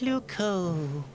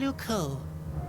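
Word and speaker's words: Loucaux: Luco doesn't really rhyme with Bordeaux. It's spelled completely differently.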